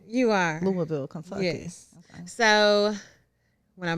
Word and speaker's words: Louisville: up in Louisville am I saying it right Louisville you are Louisville Kentucky yes so when I moved here as a culture shock so I bet but I love the cold chairs but let's go to Louisville real quick Louisville's cool but it's um not